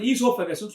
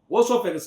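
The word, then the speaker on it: oesophagus: But we should not spell it as a osசus because o isஸ் silent so we should நம்ம என்ன ப்ரோனௌன்ஸ் பண்ணோம்னா ஈசோபஸ்னு சொல்லணும். ஓசோபஸ் இல்ல ஈசோபஸ்.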